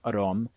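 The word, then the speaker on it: อารมณ์: In the Thai language, the word aramana, pronounced arom, always means the emotions, and sometimes in this book it also means the emotions.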